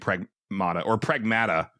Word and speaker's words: Pragmata: I mean, well, so, because I played, like, the majority of what I did is I played Pragmata, I guess, is how they pronounce it in the game.